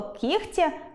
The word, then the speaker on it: кігті: Наприклад, слово “кігті” пишеться з літерою “г”, хоч і вимовляємо звук [х].